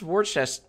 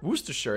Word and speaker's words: Worcestershire: we're warchest we're just worcestershire sauce i'm going to look that up aaron can pronounce but who cares worcestershire worcestershire worcestershire can pronounce worcestershire sauce worcestershire wooster sure it is yeah i'm looking it